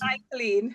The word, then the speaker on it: Michaelene: It's Michaelene.